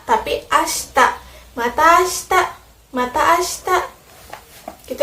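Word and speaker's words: 明日: Ashitanya nggak dibaca ashita, tapi ashita.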